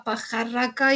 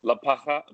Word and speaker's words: Pajarraca: But can you record us a message for La Pajarraca? It's a little hard to pronounce, I know. Pajarraca.